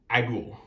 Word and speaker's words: Agul: series with ultraman agul now there have been different pronunciations depending on who you asked for it but i go with agua very nice kaiju very